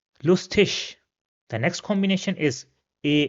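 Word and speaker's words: lustig: Another example will be lustish which means funny lustish.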